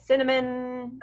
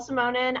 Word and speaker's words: Simonin: everybody messes up my last name i get cinnamon anyway but um so my name is simonen i own shape it up fitness and as